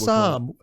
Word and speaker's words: psalm: A psalm, spelt with a P, I believe. That's it. Yeah, silent P. A silent P.